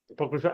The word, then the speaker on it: Apocrypha: of the album is not that easy to pronounce it's called H APO Apocrypha yes Apocrypha and it's out it's going to be out